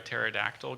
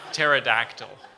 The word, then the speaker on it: pterodactyl: can't you hear a pterodactyl go to the bathroom it's a great question for a radio reporter it's because the P is silent pterodactyl could you say it